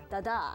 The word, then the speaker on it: Dada: here so you know daada means uh in French you know rocking horse uh French they pronunciation is a Dada you know so if someone who knows friends that's they pronuncia right like that good so where I